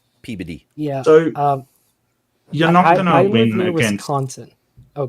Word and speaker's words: Peabody: a medium-sized town that spelled Peabody but it's pronounced pbd pbd yeah so um content oh god well you're